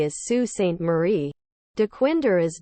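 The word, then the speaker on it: Sault Ste. Marie: is MAA Island but the last C is pronounced as a w Sue St Marie is Sue St Marie dequinder is D Quinter lake orian is Lake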